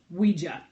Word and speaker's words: Ouija: is what they printed the Ouija board pronounced w ee we dash J a wee gia has always been mysterious